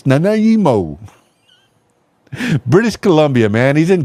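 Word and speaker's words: Nanaimo: West Vancouver but it's not West Vancouver it's Nimo British Columbia man he's in Canada Oh Canada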